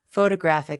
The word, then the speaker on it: photographic: For example, photograph noun is stressed on the first syllable. Photographic adjective is stressed on the third.